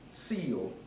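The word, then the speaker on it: cieled: of concern or importance sealed now it doesn't spell like it's pronounced c-i-e-l-e-d-c-o to cover over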